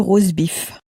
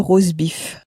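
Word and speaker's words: rosbif: The roast beef in French, the roast beef is le rosebif, le rosebif, so it sort of sounds like, it sounds a bit like the English but pronounced in a very French way.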